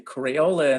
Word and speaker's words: Craola: great crayola and the crayola in there is actually my graffiti name um i spell it without the y and i started doing